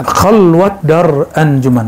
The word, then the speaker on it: khalwat dar anjuman: Ditambahkan Syekh Bahauddin Naqsyabandi, beliau tambahkan khalwat dar anjuman, bukan khalwah ya.